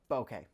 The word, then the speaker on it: bokeh: Wait, how do you pronounce it? Bokeh? Yeah, it's bokeh.